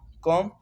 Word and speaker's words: comb: जैसे सेकंड है COMB कॉम, कॉम बी जो है साइलेंट है।